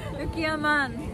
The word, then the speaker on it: うきわまん: And she corrected me saying that not ban, it's man. Oh, is it man? Man. Is it man or ban? Ukiwa man.